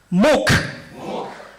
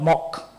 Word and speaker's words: MOOC: new world called milk please join me to pronounce this word correctly MOOC Moke not mock our previous Minister some